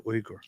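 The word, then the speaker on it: Uygur: but that's not how it is it's actually uger some people pronounce it yog and they call him yogurt chunky yogurt we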